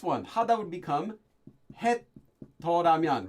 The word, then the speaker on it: 더라면: Yes, it's a special sound change rule. The difference between Toramyon and the regular Umyon form.